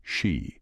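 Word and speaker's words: 四: is due to to its pronunciation she which is similar to death while the Chopstick etiquette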